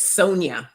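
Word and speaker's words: Sonja: I recommend I'm gonna correct it's Sonia I know the Jay throws everybody off but it it's it's a Sonia with a J Sona Sonia Sona y it's not spelled with a Y but it's spelled with the J oh okay hey Sam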